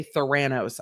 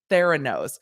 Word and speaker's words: Theranos: elizabeth holmes's company theranose now i always want to say thoranos i know that's not how you say it i feel like it's like thanos but no thoran no i would just say it wrong now see i i